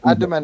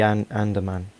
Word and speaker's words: Andaman: That's what they were, What you or say, Adaman? Negrito people. How are you pronouncing this? No, it's the Andaman Islands.